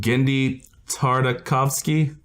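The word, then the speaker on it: Genndy Tartakovsky: Is it Gendy Tartakovsky? Yeah, you got it right that time.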